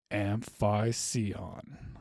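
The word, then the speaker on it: Amphicyon: And today that is going to be an animal named Amphiion. I'm probably pronouncing that wrong.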